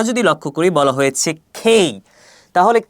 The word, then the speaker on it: K: লক্ষ্য করি বলা হয়েছে খেই তাহলে কে এর সঠিক উচ্চারণ কি হবে কে এর সঠিক উচ্চারণ হবে খেই পরবর্তীতে এলর উচ্চারণ দেওয়া